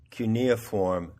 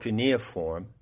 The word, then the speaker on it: cuneiform: be citing come from cuneiform that's the american pronunciation cuneiform tablets they're called caneaform because they use a